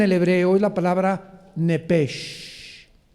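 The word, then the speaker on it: נפש: hebreo es la palabra nepesh. La CH en el hebreo se pronuncia como J, entonces se pronuncia nepej, como si fuera J. Es nepej, es el alma en el hebreo.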